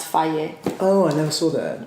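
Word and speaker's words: Fage: But they always have like a little thing at the bottom that says pronounced Faye.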